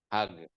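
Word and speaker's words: حاج: Mesir ke bahasa Betawi hag bacanya hag Jim jadi G ya hag ya hagga berarti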